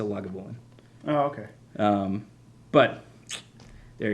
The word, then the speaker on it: Lagavulin: of the mill um the welsh actually the welsh welsh pronunciation is actually closest to lagavulin oh okay um but